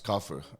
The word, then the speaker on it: Cafu: So whenever they pronounce my surname, they would say Cafu. So, and most of the people say Cafu. So I kind of like prepare Cafu because it's easier for everyone to pronounce it. So it's Cafu, okay. Yeah, for me it's Cafu.